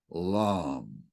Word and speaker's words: LAM: And in order to ignite this yellow cube, we recite the seed syllable LAM, L-A-M, LAM.